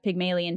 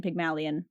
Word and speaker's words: Pygmalion: uh named Pygmalion and this is actually Pygmalion Pygmalion um but it was inspired